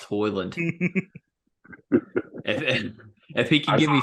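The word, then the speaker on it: Højlund: for the fact that his last name is pronounced that bus to Holland shit's pronounced hoyland if he can give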